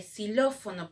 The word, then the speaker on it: xilófono: Y la X de xilófono, por ejemplo. Xilófono. Parece una S, lo normal cuando estamos hablando. Así que se coloca como S.